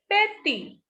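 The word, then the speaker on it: petit: T will not be pronounced here. So this is petty.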